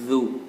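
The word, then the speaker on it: ذُو: Dzu ya. Pengucapan huruf za seperti yang Ustaz beritahu di awal tadi. Zu.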